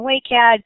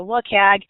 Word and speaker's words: WCAG: frequently abbreviated as WCAG and pronounced I've you've heard anything from wake egg to look AG but just for consistency today we're going to call them awake egg and it's very mentioned